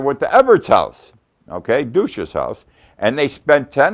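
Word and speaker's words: Dutschke: immensely this is something like a investigation Everett douche is his name and that's how you pronounce it douche it's spelled d-u-t-s-c-h-k-e but it's douche douche and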